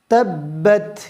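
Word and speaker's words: تَبَّتْ: আপনারা বলবেন আসুন শুরু করি বিসমিল্লাহির রাহমানির রাহিম তাব্বাত ইয়াদা তাব্বাত বাত তাব্বাত তাব্বাত তাব্বাত আচ্ছা বাত একটা বাতাস বের বের হয়ে যাবে বাত বাত তাব্বাত এরপরে তিনের রয়েছে পবিত্র কোরআনুল কারীমে যেখানে বাঁকা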